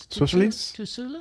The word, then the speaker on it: Susulis: Susulis. Right? Susulis. Susulis. Yeah, there's a lot of silent consonants in that name.